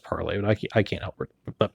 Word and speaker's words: Parler: parler doesn't polish parler parlay but they say it's pronounced parlor I can't help but